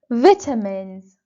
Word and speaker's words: vitamin: carbohydrates to produce energy vitamins vitamins or the American pronunciation vitamin vitamin vitamins are chemical substances